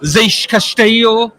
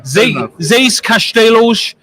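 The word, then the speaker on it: Seis Castelos: Seix Castillo. Is that how you say it? Seix Castelos. Yeah, Seix Castelos, and currently CEO or something of Pythagoras Games.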